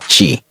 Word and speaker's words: Qi: The most common standard is a Qi pronounced at CH, which is supported by most modern smartphone, wireless airboard, and even electric toothbrushes.